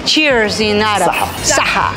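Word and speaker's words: صحة: Saha. Saha.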